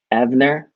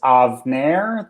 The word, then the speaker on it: Avner: you say your name avener uh i've actually uh put a pronunciation guide in my uh in my name on here it's avner that's of like avocado narrow like the hair removal product i see it i